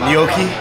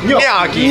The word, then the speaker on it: gnocchi: The gnocchi. Hey, now you gotta say it right. How do you say it? Yeah. Gnocchi.